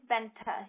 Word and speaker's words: Bente: first name well first um my name is Benta you spell it b e n t e okay and